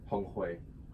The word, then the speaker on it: Honghui: How do you pronounce that? Honghui.